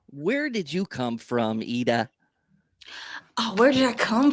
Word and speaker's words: Ida: Did I say your name right, IDA? Because you are like Scandinavian I'm or scanning. Yeah, we don't Nordic. pronounce. We don't pronounce the I's as I. We pronounce the I's as E.